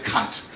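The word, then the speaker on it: Kant: have to apologize now I will pronounce his name the German Way as he deserves his name is Emmanuel CT but you spell it k a n t so don't don't yeah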